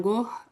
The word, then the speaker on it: Gogh: I think it's quite close to how the Dutch say it, I think. But they don't really. We see it we see it as a G, and we sort of and I don't know. I say it as a G, as a G sound, I guess, G. But the Dutch, it's more like something like an H, and not even an H really.